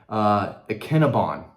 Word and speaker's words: Ikinnagbon: Another guy in town, he's on the commit list, Darren Ikinnagbon. The G is silent, learned that this week, but he is a promising edge defender from New Jersey.